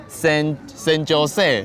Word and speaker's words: San Jose: 西班牙文，就像那个 San Jose，对，它的拼音一开始我也是念什么 San Jose，呀，其实就拼在老耳